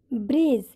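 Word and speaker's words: bridge: जब किसी वर्ड में डी के बाद जी हो तो डी साइलेंट रहता है। जैसे ब्रीज, ब्रीज में डी साइलेंट है क्योंकि डी के बाद जी है।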